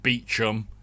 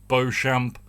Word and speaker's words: Beauchamp: we had kidworth beauchamp it's not beacham it's spelt beauchamp i'm saying it beauchamp another irritation came up